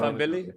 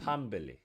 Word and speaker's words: Pambili: Fambili, is that how you say it? You always butcher it. It's pa, as in like pa, like a gun. Pambili.